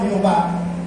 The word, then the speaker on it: Jehová: con el templo yahvé ellos le anexaron a ese término las las vocales de la palabra hebrea Adonai que significa señor mi señor entonces allí se podía pronunciar como Jehová en el lugar donde